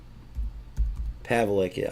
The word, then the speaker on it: Pawlik: Pawlik, I should say. She's Polish. W to pronounce as V.